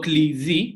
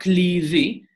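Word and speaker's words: κλειδί: Epsilon and iota in modern Greek are read together as E. So if we look at the example, to klidi, which means the key, to klidi, it will be written like this, kappa lambda, and then epsilon iota. Whenever you see epsilon iota, you will have to pronounce them as in E. So, klidi.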